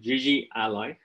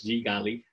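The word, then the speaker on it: GGally: there's this package called gigi ally or uh other people pronounce it as g galley i think it's usually ally um that this particular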